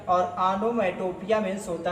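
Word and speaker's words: onomatopoeia: इसको लोग गलत क्या बोलते हैं, आनोमाटोपोइया बोलते हैं, लेकिन आनोमाटोपोइया राइट प्रोनाउंसिएशन नहीं होता है। होता क्या है, आनोमेटोपिया होता है। राइट प्रोनाउंसिएशन क्या कहलाता है, आनोमेटोपिया, ये राइट प्रोनाउंसिएशन होता है।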